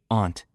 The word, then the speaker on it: aunt: Your aunts or uncle's children are your cousins. Cousins can be older or younger. Careful with pronunciation. Aunt can sound like aunt or aunt. Both are acceptable.